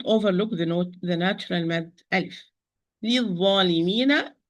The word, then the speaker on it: للظالمين: للظالمين. This lam is lam shamsiyya, or the not pronounced lam, because dha is not a letter of the sentence.